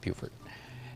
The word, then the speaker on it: Beaufort: South Carolina has a town spelled exactly the same way, pronounced Beaufort. I think it's Beaufort. No, Beaufort. Yeah, definitely Beaufort.